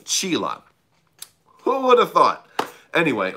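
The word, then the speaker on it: Csilla: Rising, I thought his home planet was called Cilia, but apparently it's called Chila. Who would have thought? Anyway, that's how you pronounce it.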